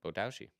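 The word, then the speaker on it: 棒倒し: I saw this, and the fact that there's 75 people Botoashi. totaling on each Botoashi. Yeah. Botoashi. Yeah. Yeah, Botoashi. Okay, so I did say it right. You said it correctly.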